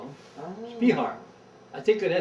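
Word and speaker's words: Speahar: It was, around The one that owned it to start with was Spejar, we call him. Oh. Spihar. I think it Spehar. They always pronounced it Spejar at that time.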